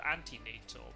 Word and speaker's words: antenatal: Yeah, but in English they're called antenatal, but yeah, it'd be prenatal. Ante as in E, not I.